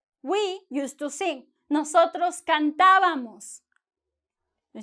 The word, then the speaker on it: cantábamos: No decimos nosotros cantábamos o cantábamos. Nosotros cantábamos. Esta sílaba de ta es high, alta. ¿Por qué? Tiene acento, ¿sí? Es la sílaba tónica. Tiene acento. El tono goes up.